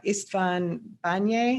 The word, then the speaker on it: István Bányai: It was The Other Side by Istvan Banye.